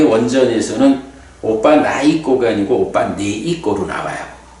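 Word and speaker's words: opanayiko: 와서 보라는 법이다 그런 거고요 그 다음에 이제 오빠 나 있고 했는데 요게 요렇게 적었는데 제가 이런 책을 쓸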